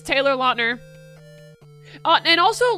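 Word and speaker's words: Lautner: Um but you know, right under that it says Taylor LNER. But and also like he said recently that everybody's been saying his name wrong like his whole life. So it's actually Taylor Lner, not Lner.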